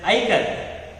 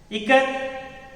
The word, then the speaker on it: Ikat: Someone yelled Ikat, and a few children giggled. Janaki teacher said it is pronounced I as in it, Ka as in Kamala, and T as TH in both. Ikat is an Indonesian term meaning to bind or knot.